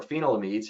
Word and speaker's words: phenylamides: The phenylamides, all right, or phenylamides, however you want to pronounce it, metalaxyl and mefenoxam, which is Subdue.